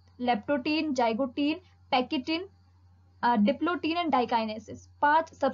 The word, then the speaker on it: pachytene: अब हम बात करेंगे पैकेटिन की। इसे पैचेटिन भी प्रोनाउंस कर सकते हैं, ठीक है।